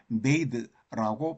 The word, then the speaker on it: bathe: 그리고 발음은 bath 이렇게 발음하고 거기다 e를 붙여서 동사화 하면은 bathe라고 발음합니다. 목욕하다.